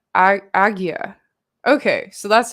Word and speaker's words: ajna: awakening the sixth chakra ajna means command pronounced as agaya aggya okay so that's how